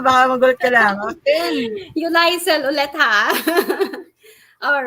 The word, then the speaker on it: Yoliesil: Sorry, how do you pronounce it? Yoliesil.